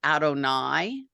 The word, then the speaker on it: Adonai: sometimes print God's name we always pronounce it Adonai ah okay so whether